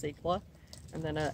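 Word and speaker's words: Secla: portugal and then cicla s-e-c-l-a i'm going to say that is pronounced sikla and then a s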